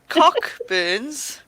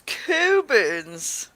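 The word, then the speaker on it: Cockburn's: Cockburns. Cockburn. It's not good. It's Coburns. It's Coburn. Right, hold on.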